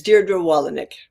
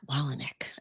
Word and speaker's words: Dierdre Wolownick: It's Dierdre Wolownick. Wolownick.